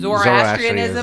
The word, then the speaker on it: Zoroastrianism: We have, God, this is going to be a fucking mouthful to pronounce. Zoroastrianism. Zoroastrianism.